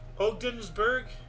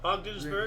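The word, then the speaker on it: Ogdensburg: NORAD never heard of venberg how does that pronounce uh o ogdenburg yeah ogdenburg never heard of it h neither have I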